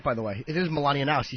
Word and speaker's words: Melania Knauss: It is Melania Knauss.